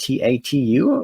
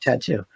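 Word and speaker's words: t.A.T.u.: Is that is it just Tatu, or do you pronounce it Tattoo? It's Tattoo, I think.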